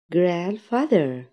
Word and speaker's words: grandfather: Father، Father، Mother، Mother، Brother، Brother، Sister، Sister، grandfather، grandfather. طبعا لو لاحظتوا هنا انا لما نطقتش حرف الدي ما قلتش grandfather، لا هي حرف الدي بتتنطقش، لكن لا نسحبها نعتبرها زي السايلنت شوي، او نسحبها grandfather، grandfather، grandmother، grandmother.